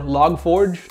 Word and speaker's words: Log4j: talk about that so log4j or logforge depending on how you say it is something that